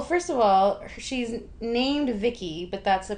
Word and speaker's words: Vicki: have um well first of all she's named Vicky but that's a pronunciation of her acronym yes which is voice input child identic right um pronounced Vicky and her features she has superhuman strength and